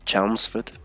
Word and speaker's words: Chelmsford: Then Chelmsford, yeah, and this Ford we say like Fud. It's very short, Fud, in many cases.